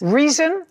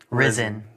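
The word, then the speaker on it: Rizin: Reason. Risen. Risen. Spell it.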